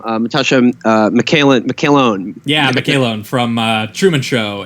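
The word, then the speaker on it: McElhone: Natasha McCallone.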